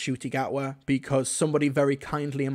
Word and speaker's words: Ncuti Gatwa: So he does mispronounce his name, but, you know, to be fair, I only knew that his name was pronounced Ncuti Gatwa because somebody very kindly